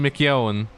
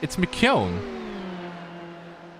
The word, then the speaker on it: McKeown: Lewin McKeown. It's McKeown. Like it's got the MC and then the K, McKeown.